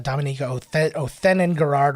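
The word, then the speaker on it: Dominique Othenin-Girard: oh yeah okay so i mispronounced her name earlier it's dominica oh then in gerard or athene gerrard she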